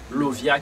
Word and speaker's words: Lauviah: parler concernant 11e génie qui c'est Lovia qui s'écrit L A U V I A H.